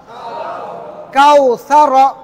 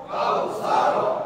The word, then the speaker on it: কাউসার: জবর র সার সার কাউসার কাউসার আর যদি র এর উপরে থেমে থেমে যান থামলেই সাকিন হবে কাউসার কাউসার টান হবে